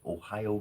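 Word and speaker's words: おはよう: Interesting factoid: Ohio gozaimasu is good morning. In a very respectful, gozaimasu is a respectable connotation, and that means good morning in Japanese. Direct, it's spelled a little bit differently, but it literally sounds exactly the same.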